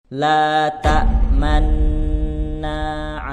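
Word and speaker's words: لا تأمنا: Ismam itu artinya memonyongkan dua bibir di tengah-tengah dengung sebagai isyarat bahwa kata la ta'manna berasal dari kata la ta'manuna. Nah, cara bacanya saat di bagian nun tasydid monyongkan kedua bibir kita seperti ini.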